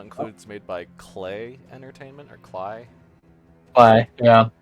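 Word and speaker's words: Klei: assume okay it's pronounced clay is it clay I thought it was Clay it's pronounced clay because their websites say it clay entertainment clay it rhymes with play ha it rhymes with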